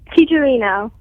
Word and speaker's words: Tijerino: Tijerino. Tijerino. Okay, perfect. But you pronounced the correct Spanish version.